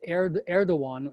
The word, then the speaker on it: Erdoğan: And it's Erdoğan, but it's spelled ERDOGAN. Okay.